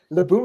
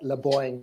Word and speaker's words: Laboom: Matrix's latest record, and it's pronounced Laboom. Please correct me. Yeah, Laboom is exactly right, actually. I had a great laugh at Dennis on Night Ride on the State of Synth. He had problems pronouncing it. He said something like Laboing, which I like too,